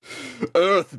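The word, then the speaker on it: Urth: be decided on Earth Earth being spelled u-r-t-h a small planet swinging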